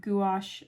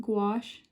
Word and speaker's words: gouache: typically something that you can only do with gouache and above I would say um is paint